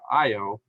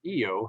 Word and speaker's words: Io: be very volcanic, as in the case of the moon Io, or Io, however you want to call it, at Jupiter. Yeah, depends on whether you're Carl Sagan or not as to how you pronounce it, right?